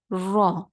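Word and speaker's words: ر: Ra'sul lisan, from the Ra's, we are going to pronounce the letter Ra. Only Ra is going to be pronounced from the Ra'sul lisan, from the tip of our tongue, without involving any teeth.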